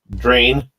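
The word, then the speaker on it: Ydrm: to say my name y d r m How would how would you guys prounce that drain with the Y silent like that oh you're right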